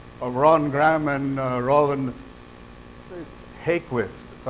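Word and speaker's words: Häggkvist: Ron Graham and Roland hey Quist so I asked somebody from his country how it's pronounced and it's hey Quist okay every tree on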